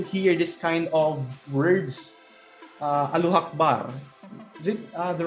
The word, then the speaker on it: Allahu Akbar: almsgiving, and fasting, and hajj or pilgrimage, which Allahu Akbar were we using as a prayer and greetings for all of us Muslims.